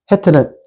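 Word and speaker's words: חית: 해트입니다. 해트. 자, 우리 앞에 한번 해가 있었죠. 발음이 비슷하죠? 그래서 해트는 비슷해요. 기억했다가 자, 보이시나요?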